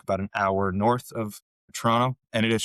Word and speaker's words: Toronto: Major cities, Toronto, Ottawa. And I grew up about an hour north of Toronto. And it is Toronto. We don't pronounce the second T.